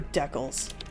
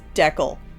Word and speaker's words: decal: So, time for decals. Yeah, it's pronounced decal, not decal.